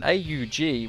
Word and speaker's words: AUG: taser an AK47 there's an Aug or the org depending on how you pronounce it which is one